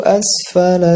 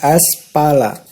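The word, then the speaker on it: أَسْفَلَ: Fa, bukan pa. Fa. Asfala, bukan aspala. Asfala safilin.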